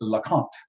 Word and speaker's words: LeConte: in 1962, talking about the LeConte Glacier, or LeConte, LeConte. Yeah, there's multiple. It's L-E, capital C-O-N-T-E, and the correct pronunciation is LeConte.